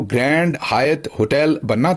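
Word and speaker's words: Hyatt: अक्सर लोग ये जो हायत होटल है इसे हयात होटल पाकिस्तान में यूएई वगैरह में अक्सर प्रोनाउंस करते हैं और वो समझते हैं कि जो अरबी का या उर्दू का लफज़ हयात है ये वो है। ऐसा नहीं है।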